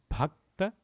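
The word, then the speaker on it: भक्त: Bhakta Nidhi. Let's pronounce it word by word. Bhakta, it is BH, so it is Bha. And then K is just K. T-A is Ta.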